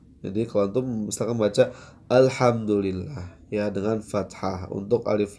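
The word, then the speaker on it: الحمد لله: ya catatan juga ya E dibacanya Hamzah itu di awal kadang dengan tebal alhamdu alhamdu ya dengan O seperti berat Ya seharusnya kita membacanya dengan tipis a hdu ya alhamdulillah ya alhamdulillah atau ha pun di baca dengan tebal ini tanbih buat Antum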